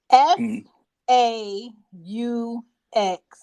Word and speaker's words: faux: button hear these messages f a u x fur is not fox fur it's faux fur Okay fo so when